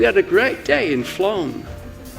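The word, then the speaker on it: Flåm: I thought it was pronounced flam. It's great being able to pronounce it, but how do you write it? We had a great day in Flom.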